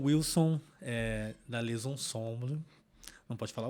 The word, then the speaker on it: Les Ensembles: português a gente fala les ensembles, Camerata les ensembles. Já é bonito, né, Wilson? Já, eu gosto. Eu acho bem harmônico. Mas a gente vai aprender a fazer biquinho.